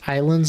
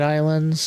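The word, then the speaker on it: Ylands: Now, I don't know if anybody out there has played Wlands, which is pronounced islands, I guess.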